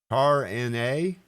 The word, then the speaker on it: Tarna: Is it Tar-N-A? Pronounced like you put it out there, Tar-N-A.